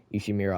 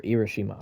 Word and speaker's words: Irishima: with Shiba and Mashiro to Ishimura Island, or Irishima Island. I keep saying it wrong, my bad.